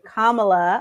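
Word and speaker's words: Kamala: on our vice president kamla as her name is pronounced and we all know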